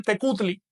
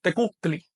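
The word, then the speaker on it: tecuhtli: La palabra señor, con arreglo a las letras que hay ahí, se dice tecutli. Pero en náhuatl no se dice tecutli, sino tecutli.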